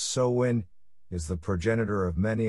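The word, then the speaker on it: Samhain: dead number 2 Scotland and Ireland soin soin pronounced so when is the progenitor of many of the United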